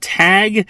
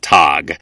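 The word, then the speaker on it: Tagge: call it tag and I sometimes call it tog sorry guys it's just a weird name it's spelled weird I'm gonna say it weird I'm just going for it right now I'm calling it tog and we see two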